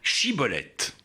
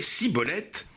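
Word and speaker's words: Shibboleth: il lui disait « Prononce donc Chiboleth ». Et il prononçait Cibolette, car il ne se réussissait pas à parler correctement.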